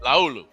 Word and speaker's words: Laulu: Laulu. That's how you say it. Laulu.